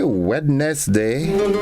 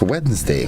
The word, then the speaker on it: Wednesday: GR made for today it's Wednesday wedness day yeah some that's how some folks pronounce it you a wedness day it's Wednesday Wednesday man hope all is